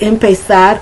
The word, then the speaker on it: empezar: Now you're going to see I have a problem when I have to pronounce the word empezar. It's that in English, that Z in Spanish. So it's empezar. I pronounce it like the Spaniards do with the empezar. Or I try to pronounce it with the S sound, but it's difficult for me.